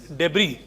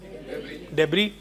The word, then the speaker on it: debris: S is silent. So you pronounce it as debris. Debris and not debris.